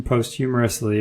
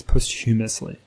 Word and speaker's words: posthumously: because this is written post humorously right um and so this is that the right way to say it post-humorously not humorously I think it's posthumously posthumously anyway so they uh um